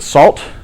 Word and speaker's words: NaCl: Some people pronounce it salt, especially since it uses the PP API, also pronounced pepper API.